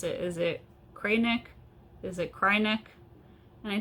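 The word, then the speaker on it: Kreinik: pronounce it is it cray nick is it cry-neck and i think it was caitlyn who said it's cry-neck because when you use it you cry it is not very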